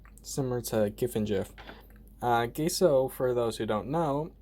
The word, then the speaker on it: gesso: will be showing you how to use gaso or gesso however you want pronounce it it's your choice similar to giffen gif uh geso for those who don't